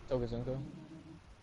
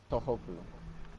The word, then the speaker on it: Tohoku: Toka Zunko? Tohoku. I've been saying her name wrong this entire time.